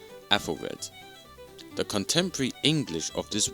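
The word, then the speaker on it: Æthelred: To people unfamiliar with English or Old English, you're probably thinking that this is pronounced as Applered or Aplered, but the correct way to say this word is Athelred.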